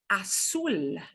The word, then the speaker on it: azul: Azul, Zoo. azul. And the Z will sound like an S. The Z will sound like an S. There should be no buzz with a Z. Azul, Azul.